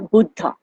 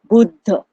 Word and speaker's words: Buddha: originated gut the Buddha the way I'm saying it may sound a little bit different to some of you but this is the way it is pronounced in India Buddha Buddha or Buddha so the story goes